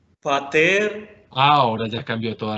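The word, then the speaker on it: πατήρ: de la primer palabra no es pater porque mira dónde está el acento va a ser otra vez haciéndole más fuerza a la segunda sílaba patel ahora ya ha cambiado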